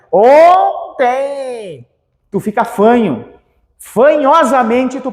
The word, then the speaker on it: ontem: não falou ou então esse n aqui ele já me dá uma ideia de nasalização do o mas aqui eu não falo o team eu falo tem nasal então no final aqui